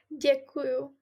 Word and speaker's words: děkuju: Děkuju.